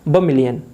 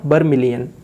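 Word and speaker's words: vermilion: इसको हम बोलते हैं बमिलियन, बमिलियन, नॉट बर्मिलियन, इट्स बमिलियन।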